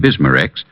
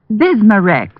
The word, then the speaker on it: Bismarex: Bismarex. Is that how you say it? That's right, ma'am. B I S M A- R E X.